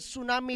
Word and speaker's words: tsunami: Daw samang tsunami doy. Actually, tsunami ang pronunciation na ha. Mga bag katong character ba sa Naruto ba nga Tsunade. Pero TSU ito. Hinapon man ang word good. Basta TSU ilang pagbasa suma na.